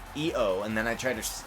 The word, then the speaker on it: Io: That was like Io, and people were like, it's E-O, and I was like, oh, okay, E-O, and then I tried her last name, and I was like, Shira.